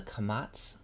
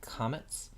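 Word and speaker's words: קָמָץ: The long A vowel is called a kamatz. Sometimes you will hear it kametz.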